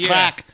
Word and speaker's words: craic: This is way different than American crack. Yes, this is definitely different than American. Spelled CRAIC. Yes. It's Gaelic. It's Gaelic, yes.